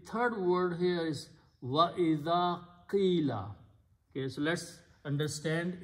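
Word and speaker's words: إذ: Alif with a dhal idh.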